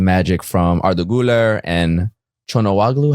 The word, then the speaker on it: Çalhanoğlu: I think more moments of magic from Arda Güler and Chonowaglu. How do you say his name? Çalhanoğlu.